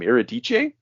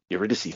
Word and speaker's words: Eurydice: I saying her name iridice eurydice thank you so much I I keep trying to pronounce it like a like Italian um yeah he puts